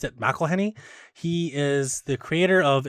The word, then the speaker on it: McElhenney: McElhenney or I thought his name was Rob McElhenney but he pronounced it McElhenney he is the creator of It's Always Sunny